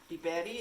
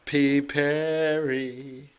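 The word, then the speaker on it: πιπέρι: Biberi is pepper. Piperi.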